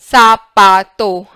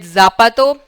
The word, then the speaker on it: zapato: sound of Z is zapato. please write down, it's never z. If you call it zapato, incorrecto. Incorrecto.